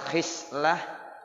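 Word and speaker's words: خصلة: Wal khislah bi kasril kha. Ya, jadi bi arba'a asarata khislatan. Ya, ada yang bacanya begitu, pakai kasroh ya, shodnya ya, khoknya dibaca kasroh, khislah.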